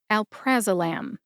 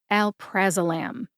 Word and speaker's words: alprazolam: hear that emphasis when I say it again Al praam Al praam as I mention mentioned just a minute ago I found the pronunciation of Alprazolam in the USP dictionary online